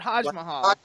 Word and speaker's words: HodgMahal: Is that how you pronounce it, Hodge Mahal? It's like Taj Mahal, but Hodge Mahal.